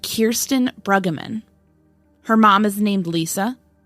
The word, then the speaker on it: Kirsten Brueggeman: was 26 when she vanished her name is pronounced Kirsten Bruggeman her mom is named Lisa her dad is